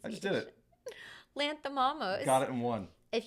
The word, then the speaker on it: Lanthimos: Yorgos Lanthimos. Lanthimos. No, it's can someone give us the phonetic pronunciation? I just did it. Lanthimos.